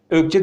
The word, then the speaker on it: öcce: Biz Gaziantep'te öcce diyoruz yazılışı ne kadar öcce diye okunsa da biz ökç diye telaffuz ediyoruz mücverin bir farklı versiyonu